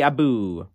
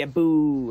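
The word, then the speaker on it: abú: And at Kerry football matches, you'd hear, Kerry aboo. And, you know, aboo is like a battle chant, which, you know, is spelled A-B-U, fada.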